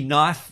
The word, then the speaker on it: knife: And don't tell me knife with a K is silent, because yes, there's no other words that have a K in the front that don't get said knife, of course.